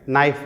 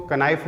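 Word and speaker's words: knife: हैं और इंग्लिश में नाइफ बोलते हैं। अब क्या होता है, अब इसमें नाइफ में के साइलेंट होता है, अब कुछ इसको कनाइफ बोलते हैं, कनाइफ, लेकिन जो एक्चुअल वर्ड होता है ये नाइफ होता है इसमें, यानी के साइलेंट होता है।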